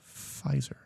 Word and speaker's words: Pfizer: i was them because why are you putting so much emphasis on the f because it's pronounced pfizer just get rid of the p because well i think